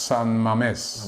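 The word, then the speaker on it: San Mamés: And Opera Gun 14 says it's pronounced San Mames.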